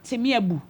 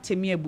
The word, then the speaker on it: Timebu: Then we have Temiebu. Temiebu, they spell it Timebu. We have Temiebu.